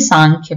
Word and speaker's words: सांख्य: देखिए स्पेलिंग में एम लिखते हैं लेकिन हिंदी में सांख्य पढ़ा जाएगा।